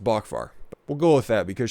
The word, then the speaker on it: Boockvar: I've heard it pronounced Boockvar.